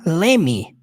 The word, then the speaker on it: let me: na hora da pronúncia ela adaptar Lep me para Leme essa palavra aí essa contração Leme Leme work Leme ao invés de Let me certo fica muito mais